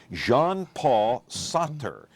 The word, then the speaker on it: Jean-Paul Sartre: France by a guy, and I want to pronounce his name correctly if it kills me, Jean-Paul Sartre.